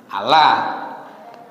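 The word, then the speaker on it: الله: itu lidahnya orang Jawa orang Arab itu membacanya bukan pakai O kita kan pakai O ya Iya mereka pun sebenarnya bacanya pakai a dalam bahasa dalam bahasa tajwid ini disebut dengan bacaan yang ditebalkan ditebalkan itu artinya lidahnya terangkat jadi sepertinya bunyinya pakai o padahal a kalau sampean mati pelan-pelan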